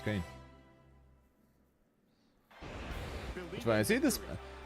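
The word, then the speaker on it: Kain: Believe When I see this, I know he says his name as Kane, but having now played a bunch of Fatal Fury, I now see that name spelled like that and immediately think Kine.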